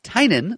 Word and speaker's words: Tynion: And it's written by Scott Snyder and James Tynion the Fourth. We now definitive evidence that that's how the man's name is pronounced.